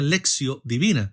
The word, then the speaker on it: lectio divina: como la lexio divina se escribe lectio divina en latín pero se pronuncia lexio divina En otras palabras la